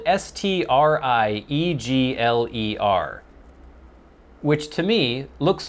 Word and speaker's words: Striegler: The I is lowercase and the E is silent. So is he saying Striegler? It's spelled S-T-R-I-E-G-L-E-R.